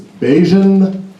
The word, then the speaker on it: Beijian: My name is Beijian. Beijian rhymes with cinjun.